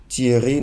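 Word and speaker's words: Théry: Nous avons T-H-E-R-Y, comme je le disais, ça se prononce également Thierry.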